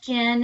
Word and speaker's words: Gin: Jen is spelled like gin and tonic, and Stevens has a PH.